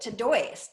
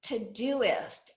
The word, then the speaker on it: Todoist: Most people would pronounce it Todoist. That's what I thought it was, but it's actually Todoist, as in to-do list.